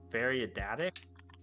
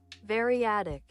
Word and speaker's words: variadic: How do you say this word? Variadatic? English. Variadic. Variadic. Variadic.